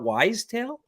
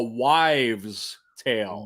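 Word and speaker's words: wives' tale: tale but you said it's not wise tale yeah you're saying wise tale i i've been always told it's a wives tale like as in white like v-e-s why wife plural so i've been saying it wrong all along i i think you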